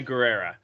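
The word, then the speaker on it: Gurira: do you say her last name did I Guerrera yes um the uh who played Okoye the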